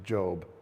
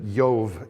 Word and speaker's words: Job: is the book of Job. Some people mispronounce it as Job. No, it's actually Job. It's actually It's actually Yove in uh in Hebrew.